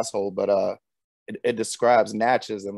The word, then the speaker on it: Natchez: you say the name of your city natchez natchez i i know about natchez there's an author